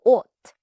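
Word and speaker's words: 옷: First, "ot", clothes, spelled with "s", spoken like "ot".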